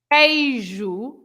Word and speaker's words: queijo: When you have a U and an E, or when you have a U and an I, then you don't pronounce the U. Like, for example, you say queijo, you don't Yes.